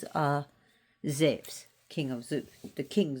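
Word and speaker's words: Ζεύς: We call him Zeus here. His Greek name is Ze.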